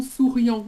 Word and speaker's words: souriant: attention, parce que quand tu prononces sérieux, Ah, ah. moi j'entends souriant.